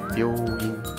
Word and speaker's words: びょういん: 字。Biyoin 正是美容院的 biyoin，因为 biyo 它有拗音又